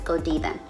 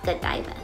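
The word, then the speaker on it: Godiva: fun fact me and my husband used to pronounce this as Go diva but we ended up and what I ended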